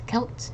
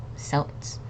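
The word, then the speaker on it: Celts: that lived in Ireland so it's Kelts not selts okay so this is a hard sea next we have Sinn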